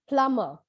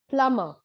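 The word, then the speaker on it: plumber: of people this is plummer plummer with the b silent and the stress is on the first syllable so it's plummer this word again is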